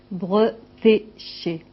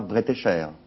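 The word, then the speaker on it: Bretécher: Bretché e et e et non pas breté cher.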